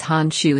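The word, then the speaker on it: Han Xu: Krizza27 says some girl names Han Shu is 6 feet 11 inches. I'm not joking. Search her up. It's spelled H-A-N-X-U.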